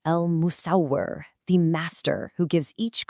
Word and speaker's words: Al-Musawwir: Pronounce it slowly with me. Al-Musawwir, the fashioner, the shaper of forms.